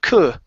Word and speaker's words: could: We do not pronounce it in this word. And instead of saying coo, it's an sound. Could.